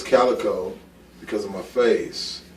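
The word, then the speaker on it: Kaliko: to pronouncing your last name how do you pronounce that Calico Calico around the world everybody says cico yeah yeah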